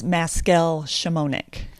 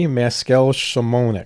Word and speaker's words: Maskel-Szymonik: Legally, it's Maskel-Szymonik. Maskel-Szymonik.